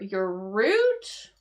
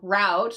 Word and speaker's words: route: So your root or route, depending on how you want to pronounce that, but your route, the route or route, this is like the way to go, right?